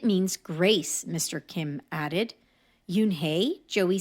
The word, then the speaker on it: Unhei: turned to Joey she nodded slowly yes it's pronounced Yoon hey and it means Grace Mr Kim added Yoon hey Joey said slowly and this time perfectly it